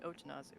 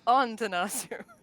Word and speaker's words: Ontanazu: also known as Ontanazu, which I always say Otanazu, which is wrong. It is wrong. I'm pronouncing wrong. It is Ontanazu.